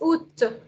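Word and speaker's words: août: Oud. It's pronounced as ut. The t is sounded. पहले का आ नहीं बोल रहे हैं आप और ये ऊ का sound है. So ut. That's the month of August.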